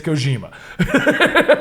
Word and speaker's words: Kojima: Listen, it's Kojima. That's what we were saying apparently. Listen, it's Kojima. Yep. oh, for like why it's so weird. Yeah, Right, why right, is right. it It's Kojima.